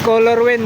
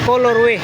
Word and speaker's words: colorway: Sabi ni Tony Vlogs, "Color win." May nag ah ano nagrect nagcomment. Oo. May nag-comment pero ang tamang pronunciation colorway colorway.